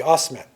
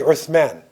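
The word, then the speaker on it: Uthman: Empire right they say us manly they say Osman but it's really earth man so in his name in Arabic would be earth man even foodie foodie means a scholar with man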